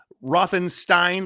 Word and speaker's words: Rothenstein: While driving through Alabama, New York college students Bill Gambini and Sa San Rose Rothenstein, they pronounce it Steen in the movie, of course, a funny little joke.